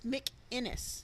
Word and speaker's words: McInnes: Yes, it's McInnes, not McGinnis.